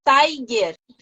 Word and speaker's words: Taigh: diferença tá a Tha é eu chamo Tai pronuncia seu nome direito pra gente é Tiger Tiger tá Tiger ISO Mas eu posso tá